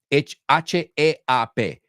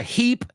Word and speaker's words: heap: So I'll say both of them together. Do you think it's hip to have a heap of clothes in the middle of the room? ¿Tú crees que eso es estar de moda? Tener una... Sé que no tiene sentido la frase, pero hip, heap. Hip, heap.